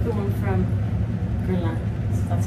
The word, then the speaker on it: Guerlain: I like the one from Guerlain.